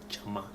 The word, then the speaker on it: Gyama: And the jama, you can spell with a J, or sometimes you see it spelled with GY, jama, GYAMA.